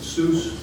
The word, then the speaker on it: Seuss: Uh, Seuss Geel, and it's actually pronounced So, rhymes with Royce.